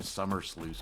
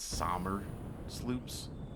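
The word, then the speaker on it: Somersloop: I keep calling them summer sloops, but I think it's sommer sloops.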